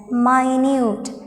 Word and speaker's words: minute: particles we call this word or we do pronounce this word as minute now let's move to the fifth word evening